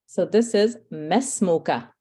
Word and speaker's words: ما اسمك: you So you should not be elongating the meme, and you should not be pronouncing the alif. So you're going straight from the meme fatha to the sin.